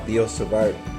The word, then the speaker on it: Biot-Savart: about the law of biot-savart I don't think you pronounce the T actually - the log feel